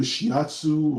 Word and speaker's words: shiatsu: massage i believe it's called i can never pronounce this right it's either shiatsu or if you know the words you can